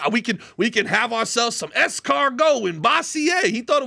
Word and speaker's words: escargot: We can have ourselves some escargot in Bossier. He thought it was the funniest thing in the world that I pronounced what's very clearly a French word with the French pronunciation.